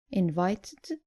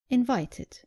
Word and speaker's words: invited: Just make sure you pronounce the e clearly. So, not invited, but invited. And not demanded, but demanded.